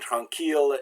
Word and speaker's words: tranquille: But there's a few exceptions where il is pronounced like I followed by an L, like in the words ville and village, mille, so this is city and village, mille is like a mile, tranquille, oh no, mille is 1,000, is the normal meaning for 1,000, and tranquille is quiet and peaceful. Those are pronounced like the L.